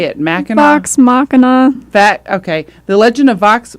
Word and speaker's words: Vox Machina: Vox Machina.